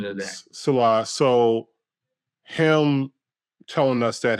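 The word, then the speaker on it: Saleh: Yeah, I learned Salah, the right pronunciation today. Salah.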